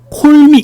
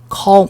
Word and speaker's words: call: 콜미 그렇죠, 그렇죠. 콜미. 예, 근데 마찬가지예요. 오 발음하고 다릅니다. A가 오 발음 나는 건 없어요, 그죠? 콜미 이렇게 하지 않고요. O와 A의 중간 발음. Call me, call me, call me.